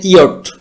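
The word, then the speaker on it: yacht: ইয়টের যে উচ্চারণটা ভিউয়ার্স, এখানে চি এইচ, যে এই চি এস দুইটা বর্ণের উচ্চারণ কিন্তু হবে না, জাস্ট ওয়াই এ টি, এটার উচ্চারণটা হবে ইয়েট। পরবর্তী শব্দটি হচ্ছে আওয়ার, যেটা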